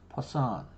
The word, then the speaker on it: Poisson: now it's a funny it's a funny pronunciation this one it's poison so it's like there's not an australian equivalent to this so poor it's about as close as it gets okay so um but